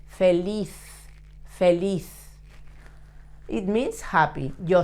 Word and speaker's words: feliz: The sound at the end of a word, a Z, in Spanish sounds like that. Feliz, feliz.